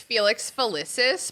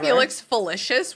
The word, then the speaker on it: Felix Felicis: you liquid luck okay it's definitely pronounced Felix felicis but you said Felix felicious which is like that's